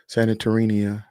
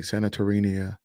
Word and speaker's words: Santorini: Santorini, or I think I'm saying it right, Santorini.